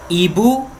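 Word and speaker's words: hibou: Genou, genou no singular e no plural, mesma pronúncia. Joelho. Ibu no singular e no plural, mesma coisa.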